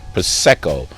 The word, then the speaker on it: prosecco: Almost like champagne or cava or prosecco, say it right, prosecco, all of those Asti Spumantis, all of those in that realm, but with a party candy taste.